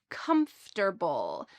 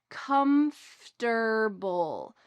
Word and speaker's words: comfortable: It is a shortened version of the word comfortable. Notice the pronunciation of this full word. Comfortable.